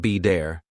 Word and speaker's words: better: For example, water sounds like wader, better sounds like be dare, city sounds like sid-e.